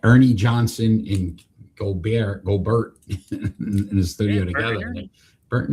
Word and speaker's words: Gobert: Gobert like Hubert.